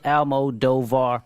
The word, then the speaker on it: Almodovar: Last name is Alm as in Mike, Od as in David, Ov as in Victor, Ar. No, that's a little long. 4 syllables. Almodovar. Pretty easy. But Puerto Rican.